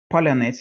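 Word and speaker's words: паляниця: Palyanice is one of them, the traditional round sourdough bread, which the Ukrainian media started recommended early on as a pronunciation test for suspected Russian infiltration, because Russians, unless they grew up in Ukraine, cannot pronounce a soft ts.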